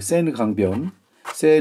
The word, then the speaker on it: Sennelier: 프랑스어로 는 ' 센넬리 에 ' 라고 발음 합니다 .